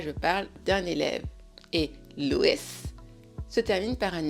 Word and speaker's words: Louis's: anglais et en plus il faudra le prononcer. Il s'entendra. Donc pour dire la tension de Louis, on fait notre inversion et ça va se prononcer Louis's attention. Louis's attention.